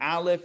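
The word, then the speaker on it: אלף: It is like the aleph, it would be ah.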